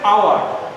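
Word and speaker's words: hour: কিন্তু মাঝে মাঝে কিছু শিক্ষার্থীরা এটা হাওয়ার উচ্চারণ বলে। হাওয়ার কিন্তু হবে না, এটা আওয়ার হবে। আওয়ার হবে। এইচ এর উচ্চারণ শেষ, এইচটা আমরা বাদ দিয়ে দিলাম, বলি কি? আওয়ার।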